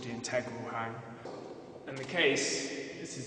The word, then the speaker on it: Hang: The instrument I play is called the hang. It's actually pronounced hum, and it's a Bern dialect, which is Bern in Switzerland, so this is where it comes from.